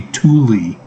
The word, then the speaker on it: Tooele: I know they pronounce things weird. It's supposed to be Thule. Tooele?